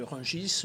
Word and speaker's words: Rungis: la même façon que rungis normalement on ne devrait pas prononcer le s à la fin de mot dire j ai pas